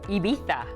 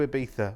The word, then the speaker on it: Ibiza: Oh, Ibiza.